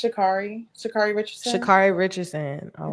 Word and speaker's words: Sha'Carri: feel like, do I say her name wrong? Is it Sha'Carri or Sha'Carri? I believe it's Sha'Carri. Sha'Carri Richardson. Sha'Carri Richardson. All right. She stepped on the carpet. Yes. So Sha'Carri. Like I love Sha'Carri as a person.